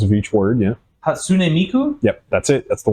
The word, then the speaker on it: Hatsune Miku: The Hatsune Miike.